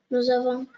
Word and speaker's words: nous avons: avec nous au présent nous avons très bien nous avons et on fait toujours la laison s devant le a ça se prononce nous avons S se prononce Z vous vous avez très